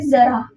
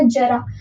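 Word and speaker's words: ज़रा: उसी प्रकार से इसको क्या पढ़ोगे? जरा। है ना? अगर मैंने बोला जरा तो उच्चारण में कितना मतलब ऑकवर्ड लगता है। है ना? तो ये सही प्रोनाउंसिएशन है। सही उच्चारण है।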